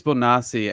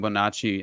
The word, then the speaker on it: Bonacci: Yeah, I think it's Bonassi, and I was saying Bonacci, and so I was pronouncing it wrong the whole That was fucking one of the first stories that I ever heard.